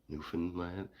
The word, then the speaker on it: Newfoundland: I mean, if if you don't pronounce the D, Newfanland. Newland. The D is like it's hinted at like you have to